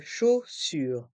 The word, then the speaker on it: chaussure: Dans le mot chaussure, le S à la fin de chaussure est muet.